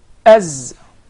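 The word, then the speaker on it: ز: As your tongue never comes out of your mouth. Yes. As. And there is actually a whistling sound.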